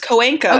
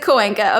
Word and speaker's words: Coenca: And I like heard you like stop and you're like, wait, do you know how to say it's Coenca? Okay, Coenca. Okay. It's a Spanish last name.